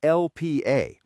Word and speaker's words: Lp(a): It's called lipoprotein A, pronounced lipoprotein little A or LPA.